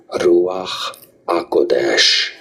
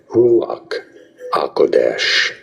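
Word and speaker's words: רוח הקודש: Ruach HaKodesh. Ruach HaKodesh. It's often said in English as Ruach HaKodesh. Ruach HaKodesh or Ruach HaKodesh.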